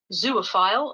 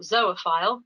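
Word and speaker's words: zoophile: and in this example this is the word zoo file or zoe file so you can see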